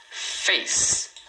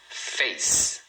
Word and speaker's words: face: Face. Face. Tá vendo? Rosto é face. 1 sílaba.